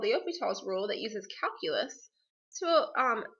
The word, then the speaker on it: L'Hôpital: I know this looks like L'Hospital's rule, but it's actually pronounced L'Hôpital's rule.